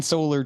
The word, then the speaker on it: Soller: So this solar. is so sad, right? Because normally in my whopping 29 episodes here, Yep. I'll be like, your last name, it's pronounced Solar, right? Sure.